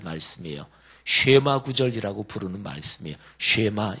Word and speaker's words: 쉐마: 쉐마, 이게 히브리어 발음인데 이게 들으라 이런 얘기예요.